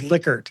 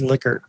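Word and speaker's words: Likert: And Bill McKichi knew Renis Lickard. And even though the rest of us in the world call a Liyard scale, Bill told me his last name was Lickard.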